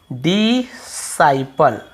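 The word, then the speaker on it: disciple: डिसाइपल। ठीक है? ऐसे डिसाइपल। डिसाइपल पढ़ते हैं। अब यहां पर आप देखेंगे यहां पर भी आपको सी का उच्चारण नहीं डिसाइपल क्योंकि आई को हम आई पढ़ रहे हैं।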